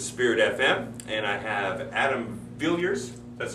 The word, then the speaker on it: Adam Villiers: in this is Spirit FM and I have Adam Villers that's how you pronounce it that's correct yes all right awesome